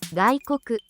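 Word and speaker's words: 外国: 가이코크 가이코크 외국 가이코크라고 발음하며 첫 번째 가는 파금입니다. 마치 목구멍 안쪽에서 소리가 시작되는듯한 느낌으로 발음합니다.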